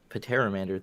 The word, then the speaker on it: Pteramander: Pteramander, that's ridiculous, Dan. There is no the P is silent. Come on, everybody knows that.